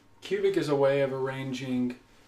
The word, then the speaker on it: Qubic: computation it's it's just QBC pronounced cubic is a way of